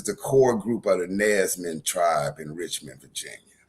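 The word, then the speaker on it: Nansemond: Nesman. N A N S E M O N D. A lot of us got roots with that tribe. That's a federally recognized tribe. They're Nesman. Nesman.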